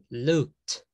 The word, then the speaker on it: looked: Ahora, todo este agrupado es T, ok, entonces sería held, held, looked, sniffed. La E no la pronuncio. La E nunca la pronuncio, nunca.